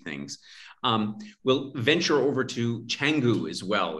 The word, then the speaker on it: Canggu: We'll venture over to Canggu as well. It's pronounced Canggu.